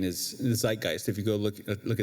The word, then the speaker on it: Zeitgeist: So again, as they rattle off these data points in Religulous and Dan Brown's Da Vinci Code and Zeitgeist or Zeitgeist, as some might pronounce it.